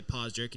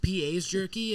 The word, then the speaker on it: PA's Jerky: And then I get on there, like I cut the commercial off after they say Paws Jerky, and I'm like, that's actually my establishment. It's pronounced PA's Jerky, as in Pennsylvania, and like I go